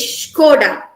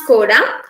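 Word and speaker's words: Škoda: me in the head i used to pronounce this as skoda the correct pronunciation of this word is skoda it's not skoda it's skoda this one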